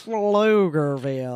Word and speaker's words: Pflugerville: Pflugerville. That's spelled with a P, not an F.